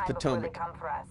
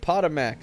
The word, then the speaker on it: Potomac: ] it's so funny it's Potomac everybody's like Potter Mac on my cop that's what it looks like but that's not what it is it's hilarious to the Potomac Event Center yeah uh